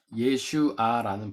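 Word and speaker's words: ישועה: 히브리어로는 예슈아라는 발음을 해요.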